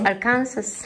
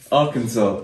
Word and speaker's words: Arkansas: AK Arkansas.